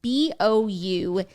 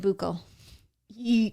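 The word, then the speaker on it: bouclé: fun of me already b-o-u-c-l-e boucle oh i said buco e how do you explain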